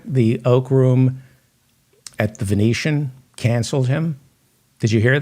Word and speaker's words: Venetian: It's pronounced the Venetian. Oak Room at the Vention. You idiot. You should not be allowed to even look at a gun. It's the Venetian.